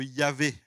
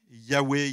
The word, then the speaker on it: Yahvé: Aujourd'hui, les linguistes, les experts, pensent que c'est plutôt la manière de dire de Yahvé, Yahweh, Yahvé. On pense que c'est plus comme ça qu'il faut prononcer ce fameux tétragramme.